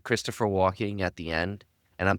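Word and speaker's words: Christopher Walken: It Jon: Christopher who, Ryan: Christopher walk-in. Jon: okay. Kearns: All right. Jon: You said it right that time. Ryan: what? Jon: You definitely said Christopher Walking the first time.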